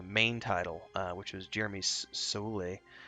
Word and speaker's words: Soule: One of my favorite game music composers of all time worked on the main title, which was Jeremy Soule. I always pronounce it Soule. It might be Soul.